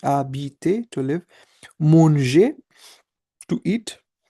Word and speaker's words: habiter: So the verb that ends with er, for example, parler, to speak, habiter, remember h is silent in French, habiter, to live, manger, to eat, rester, to stay, and préparer, to prepare.